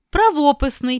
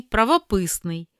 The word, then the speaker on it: правописний: третьому чи четвертому складі А є слова із подвійним наголосом це означає що обидва варіанти рівноправні і можна наголошувати так як ви звикли чи яке звучання вам більше до вподоби прочитаймо їх помилка або